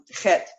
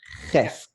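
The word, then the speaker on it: ח: But I can pronounce them Bes. It's Bet in Okay. Sephardic. Excellent. Vav. Good. And Het. Perfect. Or Het. Ches.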